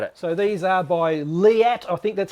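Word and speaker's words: Leatt: them all about it so these are by liat i think that's how you pronounce it leat correct um so i was looking for some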